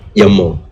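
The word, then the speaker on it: YAML: by the way uh the pronunciation for this is actually quite confusing some people call them yum right some people i call them yamo all right up to you you can call yam or yamo depends on how lazy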